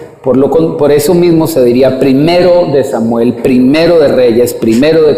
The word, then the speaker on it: primero de Samuel: Cuando evocamos este libro, no se dice primera de Samuel, acostumbran algunas personas a decirle primera de Samuel, primera de Crónicas, y es equivocado, semánticamente es incorrecto, porque